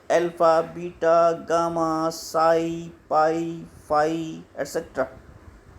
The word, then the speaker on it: psi: साई की spelling PSI होती है, लेकिन उसे बोला जाता है SI साई, P साइलेंट होता है यहाँ पे।